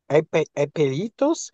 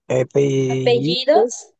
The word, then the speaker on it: apellidos: Tus apelitos, ¿cuáles son tus apelitos? I think that's how you pronounce it. Apellidos, apellidos, Apelitos.